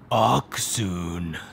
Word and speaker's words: Accsoon: should probably know this this is how you properly pronounce it oxon these were sent over